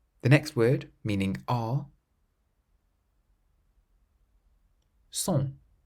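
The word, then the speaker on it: sont: Son. Son. How would you pronounce the seventh word, which means orange?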